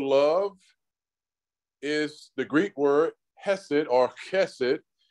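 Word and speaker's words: חסד: is the Greek word hesit orchested and it's spelled h-e-s-e-d in English it would be c-h-e-s-e-d chess it and it's a noun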